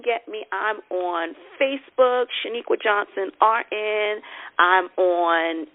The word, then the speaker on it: Sheniqua: n I qu a my mother is the only one that pronounces my name correctly I always you know should equal but it's actually Shaniqua my mother says it perfectly but however you call